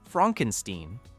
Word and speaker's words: Frankenstein: The idea of a man named Frankenstein who insists the name is pronounced Fronkensteen and who lectures at an American medical school and tries very hard to be taken seriously.